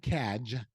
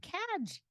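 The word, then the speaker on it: KAG: And again, it's not CAG. You can say CAG with a hard G. Cadge.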